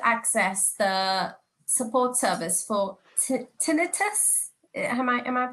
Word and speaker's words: tinnitus: Another question that I have is, would I be able to access the support service for tinnitus? Am I pronouncing it correct? Yes. Correct? Yeah, tinnitus is a type of hearing impairment.